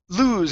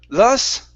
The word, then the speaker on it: lose: good uh next is the word lose instead of lus okay it's an O lose lose okay good um next